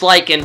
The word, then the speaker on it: lichen: I don't know how to pronounce that word. It's lichen.